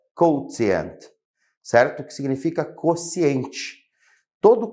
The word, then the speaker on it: quotient: Uma palavra em inglês que se fala quotient, certo?